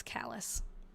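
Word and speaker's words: Calais: I have been told by I I was pronouncing it cal too because I thought, oh, it's French. Um, I've been told by people who actually live there that it's callous, which and then same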